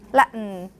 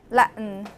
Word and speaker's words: Latin: Tibetan Tibetan Tibetan Latin you must have notice that from my pronunciation I I never say Latin it's always Latin or Tibetan something yeah it's yes some people think that we are swallowing the tea yeah that's how um non-linguist describe this phenomenon instead of